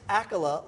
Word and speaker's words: Accola: Runaway hit Vampire Diaries Candace akola like Dracula yes did I say